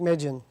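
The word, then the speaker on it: Deukmejian: General George helped me out with the uh pronunciation would Duke Duke Magan thank you had just been elected to succeed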